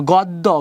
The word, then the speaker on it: গদ্য: জফলা আছে শেষে থাকে তাহলে দ্বিত মানে দুইবার দুইটা উচ্চারণ হবে যেমন গদ্য মানে দুইটা দ হয়ে যাবে তার মানে একটা দ আরেকটা দ গদ গদ্য উচ্চারণের ভিতরে